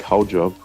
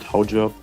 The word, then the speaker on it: Haujobb: It's spelled Hautjob, but because it came only in the movie twice, the name Hautjobs, and I couldn't hear the T, so to me it sounded like Haujob, which translated to German